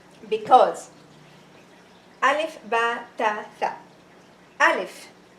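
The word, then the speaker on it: ألف: Alif is, some kids they say Alifa. No, it's wrong.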